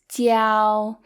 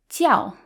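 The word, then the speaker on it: 教: first tone which is tiao it's higher pitched tiao versus when it means religion it's the fourth tone it sounds more Angry ciao so when it means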